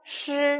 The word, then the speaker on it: 师: 시 발음이에요. 시 약간 혀를 좀 꽈서 입 천장 뒤에 이렇게 살짝 붙여서 이렇게 혀가 이렇게 말려 있는 거예요.